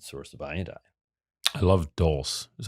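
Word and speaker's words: dulse: such a concentrated source of iodine i love dulce is how you pronounce it dulce seaweed it's like loaded yeah and kelp all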